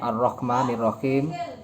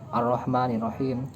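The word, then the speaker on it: الرحمن الرحيم: Ar-Rahmanir-Rahim itu kan pakai ko, bukan pakai ha. Seharusnya pakai ha.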